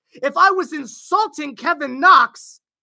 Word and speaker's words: Knox: well gosh Dagon how his name start with K but but but but but but but we pronounce it Knox why we started with